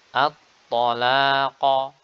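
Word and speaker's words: الطلاق: At-talaqa, at-talaqa. Di sini huruf ta.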